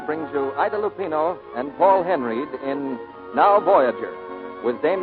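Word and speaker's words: Paul Henreid: in many a day he pronounces his name Paul Henry he and Idol Lupino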